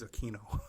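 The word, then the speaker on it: Aquino: know anybody else who does not pronounce a quu i n o as a Kino okay so for for me for the rest of my life it's a keino I don't care what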